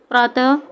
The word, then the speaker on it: प्रातः: तो विसर्ग का उच्चारण ह की तरह होता है।